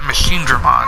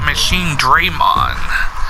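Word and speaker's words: Machinedramon: I always called a machine driven because it's what they pronounce it but here they keep pronouncing it machine dream on like they're putting a separation between machine and drape on the machine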